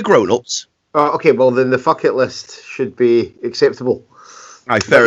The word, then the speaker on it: Fuck It List: Okay, well then the fuck it list should be acceptable. Aye, fair enough then. On TV and radio during the promotion, it's often been the effort list, the rhymes with bucket list, with various euphemisms.